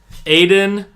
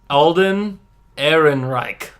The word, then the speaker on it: Alden Ehrenreich: how to pronounce it it is Aiden nope Alden Ehrenreich cool Evan right he's